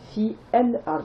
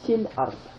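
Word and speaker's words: في الأرض: Vous voyez, j'ai pas prononcé fi el ard, j'ai dit fil ard.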